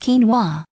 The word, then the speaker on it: quinoa: flavor for those of you who care it's pronounced quinoa but whilst it's a pretty confusing ingredient to